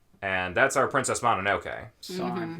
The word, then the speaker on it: San: San, right? San, Is that how you yes.